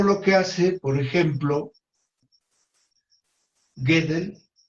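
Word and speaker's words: Gödel: Por ejemplo, Gedel no le dicen de muchas maneras porque es un poco difícil traducirlo del alemán. Yo digo Kurgedel y algunos otros dicen gode, ¿no? Eh, francamente me es difícil pronunciarlo en alemán.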